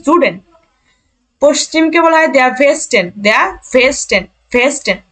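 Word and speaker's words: Süden: নর্ডেন নর্ডেন দক্ষিণকে বলা হয় দেখেন এন একসাথে উচ্চারণ জুডেন পশ্চিমকে বলা হয় ভেস্টেন ভেস্টেন ভেস্টেন পূর্বকে বলা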